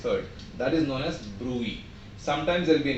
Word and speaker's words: bruit: What is that BRUIT? Do it. Bruit. T is silent.